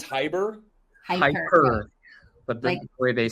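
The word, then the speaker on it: Hiperbaric: Hyperbaric? That's how you say it, right? It's it's H-I-P-E-R. Oh, it's Hyper? Hyper.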